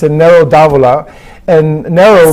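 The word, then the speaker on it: Nero d'Avola: a little bit about each and how you pronounce it okay so the first one here is a red it's a it's a narrow davola and narrow say it again yes and it's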